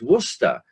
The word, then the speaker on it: Worcester: of my university, and he was going Worcester, Worcester, and I said it's Worcester.